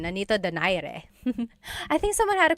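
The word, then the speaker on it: Nonito Donaire: So, our first poll here is going to be Mani Pacquiao versus Nonito Daire or is in in the Tagalog uh pronunciation. Nonito Dare.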